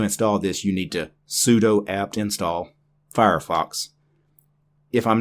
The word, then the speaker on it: sudo: Most people probably mispronounce this one in the English language, sudo. It actually is supposed to be sudo. It actually stands for super user do.